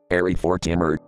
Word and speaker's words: Airy Fortimer: SpongeBob slowly reads the name tag out loud, and to give you an easy idea of how it's pronounced, it sounds like Airy Fortimer.